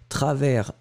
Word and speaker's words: travers: bien c'est travers l'expression c'est à travers travers s final que vous ne prononcez pas travelsmart2010 vous aimez les